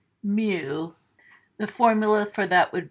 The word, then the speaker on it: mu: to symbolize with the Greek letter mu it's pronounced mu the formula for that would be X1 plus